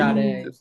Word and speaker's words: Sade: And Sade. Sade, I said Sade. Like the singer, dude.